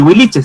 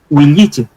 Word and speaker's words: huilliche: La verdad es que ni siquiera no se pronuncia ni huilliche ni huiliche, sino que es intermedio, es huilliche, con y, huilliche.